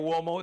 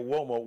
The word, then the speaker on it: Uomo: Just type that search in, and Uomo. Uomo is UOMO, so it's pronounced like with a W sound, wah. But it's an Italian word.